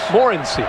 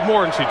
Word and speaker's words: Morency: We asked him yesterday, how do you say your name? And he said, Kirk, you're my witness. Morency. He said Morency to us.